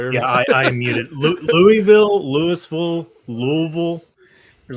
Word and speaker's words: Louisville: The way I say it, half half the letters are silent and it's Louisville."